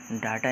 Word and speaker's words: data: और इसको कभी भी हम कंप्यूटर की लैंग्वेज में डाटा नहीं पढ़ेंगे, हमेशा क्या पढ़ेंगे? डेटा ही पढ़ेंगे।